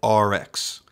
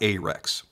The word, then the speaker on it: Arex: each and every time he has pronounced the brand RX not ax so if that's how